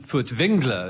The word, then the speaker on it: Furtwängler: Well, Wilhelm Furtwängler, as he should probably be pronounced, because there's an umlaut on the A in his name, was a great Germanic conductor of particular...